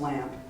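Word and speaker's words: Lampe: really fell in love with this J Bwalt lamp. Now, I've met his granddaughter and it is pronounced lamp and the J stands for Jens.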